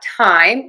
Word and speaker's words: thyme: Let's learn two words that are pronounced exactly the same way. They just have different spelling and different meanings. We have time, which is an herb, and time, which are seconds, minutes, and hours.